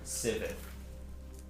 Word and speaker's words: Sivith: Sivith. Can you spell it?